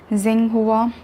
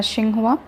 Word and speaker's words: Xinhua: female news anchor and you can pronounce it any way you want Ching hua Xing hua but in Chinese they pronounce a Ching hua according to the Xinhua